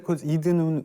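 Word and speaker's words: Eden: 이제 시작을 했습니다네 이레 이든은 우리가 아는 그에 에덴 동산네 맞습니다네 에덴의 영어식 발음이 이제 이든인터내셔널 회사는 보통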